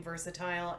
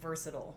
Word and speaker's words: versatile: you pronounce this but i say versatile i go back and forth between versatile and versatile that is a distinction